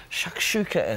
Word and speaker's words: shakshuka: Okay, now it's over to Chef Mark, who is with author and cook Bridget Davis to explain what a shakshuka is.